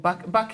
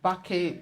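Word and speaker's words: BAQE: At Bake. Bake is spelled? The Bake is spelled B-A-Q-E.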